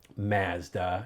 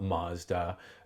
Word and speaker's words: Mazda: say things like Zed we say Mazda not Mazda um and then there were